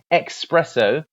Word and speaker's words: espresso: to note is that the S in an espresso could actually be replaced with an X because the name means to express. So potentially either pronunciation or spelling could be correct, but espresso, if you ever hear it, espresso is the literal meaning to express.